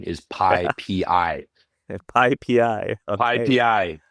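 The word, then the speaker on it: PyPI: official documented pronunciation is pii pii okay Pi you're supposed to individually announce the letters Pi for package index as opposed to saying piie which we said which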